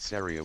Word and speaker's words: Saria: That man said Saria with the hard R like the actual Japanese pronunciation. Respect.